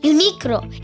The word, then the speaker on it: Uniqlo: We walked into the store Uniqlo, which, fun fact, is actually pronounced Uniqlo in Japanese, and found this cool area where they do custom t-shirts.